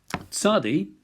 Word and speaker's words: tsadi: Tsadi is a TS sound, as in rabbits.